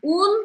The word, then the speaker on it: un: Porque quem já sabe, lembra que o an no masculino, eu não falo o N, mas eu dou essa nasalada, né? Por que é importante? Porque se eu pronunciar o N, vai sair feminino. Então, se eu falar assim, un piano, parece que você está falando uma piano, né? Então, fica errado você falar assim.